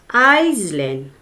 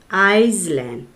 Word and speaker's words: island: Okay, everybody, listen carefully how I pronounce the word. Repeat after me. Iceland. I-S-L-A-N-D, Iceland.